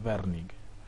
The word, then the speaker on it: Wernicke: área área de wernicke área de bernie que así es como se pronuncia werning y por otro existe